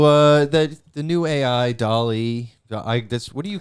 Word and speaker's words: DALL-E: that the new ai dolly that's what do you call it i call it dale because i want to sound like dallas yeah it's spelled like wall-e that's exactly what i